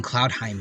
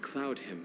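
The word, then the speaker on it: Cloudhymn: With these attackers before, and they used Cloudheim magic to hide their presence. Him magic, not Heim. Without careful observation, no one can detect them. It looks like it should be pronounced Heim. Okay, Cloudheim magic.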